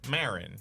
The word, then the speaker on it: Maron: his last name is spelled Maron. But it's people just say it like Marin, right? Like Marin, Mark Maron. If you say it fast, Yeah.